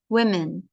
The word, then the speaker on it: women: men or women women women yep the plural is pronounced women that's okay who was